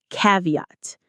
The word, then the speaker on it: caveat: Caveat. Say it with me. Caveat. Cav. Caveat.